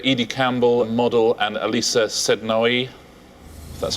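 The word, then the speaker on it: Sednaoui: Edie Campbell, model, and Elisa Sednoy. That's how you pronounce it.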